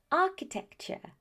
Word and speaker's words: architecture: The T-U-R-E ending is very often pronounced as ch. Let me repeat that, ch. That's why it's future, structure, nature, architecture.